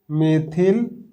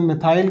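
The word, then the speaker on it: methyl: 3 मेथिल, या कुछ लोग प्रोनाउंसिएशन मिथाइल करते हैं तो वो मिथाइल भी प्रोनाउंसिएशन कर सकते हैं, हेक्सेन।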